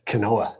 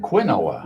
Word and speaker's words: quinoa: Canoa. Kenoa. Oh, not even Quinoa.